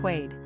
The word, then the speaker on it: Quade: Pronunciation, Quade.